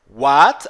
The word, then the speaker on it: what: ganhar sentido agora what6 what aqui mais uma vez a letra w tem o som de utau h apenas estica um pouco esse som não é a pronúncia